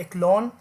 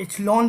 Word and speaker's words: Echelon: ठीक है, इसे कभी कभी कुछ लोग इचलॉन भी कहते हैं क्योंकि सी एच का प्रोनाउंसिएशन कभी चे से भी हो रहा होता है। तो इचलॉन और समवन से इक्लोन, सो no problem with that pronunciation.